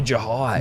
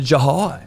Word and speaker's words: Jhye: need to turn to Jhye. Yeah. A bloke with a silent H in his name, potentially, but also maybe not. Well, there's no small S above it, so we assume it's not silent.